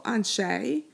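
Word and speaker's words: אַנְשֵׁי: Anshe, right, rhymes with Bnei.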